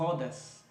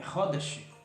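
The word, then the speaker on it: Khodesh: E a pessoa é levada a pronunciar Hodes. Não é Hodes, é Hodesh.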